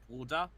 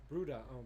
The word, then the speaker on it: Bruder: Wait, how do you say brother in German? Bruder. Bruder. Yeah. Okay. Bruda.